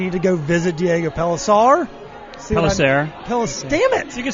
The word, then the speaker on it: Pellicer: gone you definitely need to go visit diego pelissar hello damn it you can say it any way you want of course the harvard kids so when we first opened it was pronounced diego payser two else p-e-l-l-i-c-e-r so the correct pronunciation was